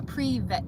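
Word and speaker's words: привет: you're Russian in Russian oh a pre-vet that's how you say it now I know how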